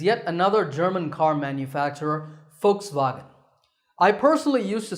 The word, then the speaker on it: Volkswagen: another German car manufacturer Volkswagen I personally used to say Volkswagen but I have since learned that the initial V is actually pronounced as an F sound in German so the first part